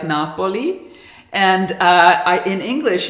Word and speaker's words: Napoli: in milkshake blonde R I think in Italian it's actually pronounced something like Napoli and uh I in